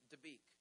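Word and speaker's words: Dabiq: a city named Deek I have to be careful how I pronounce that because one time it sounded like debuk and people freaked out and I said no no no no no not not debuk debuk Deek d a b IQ it's a true City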